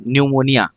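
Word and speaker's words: pneumonia: सबसे पहले आता है निमोनिया। निमोनिया में पी आता है। पी एन ई यू एम ओ एन आई ए बहुत ही ज्यादा फ्रीक्वेंट क्वेश्चन आता है आपके एग्जाम में। यहां पर क्या होता है? पी साइलेंट होता है।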